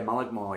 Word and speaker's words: Mullaghmore: Probably Mullaghmore. Is that how you say it? Yeah, Mullaghmore, yeah.